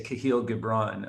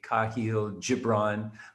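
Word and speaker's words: Kahlil Gibran: the prophet um and everybody pronounces these names differently but I say kahil gibron or some people say kahil gibron but it's a book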